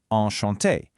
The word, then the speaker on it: enchanté: a truly beautiful word, enchanté. You'll see it can have an extra e at the end if you identify as female, though it's pronounced exactly the same either way.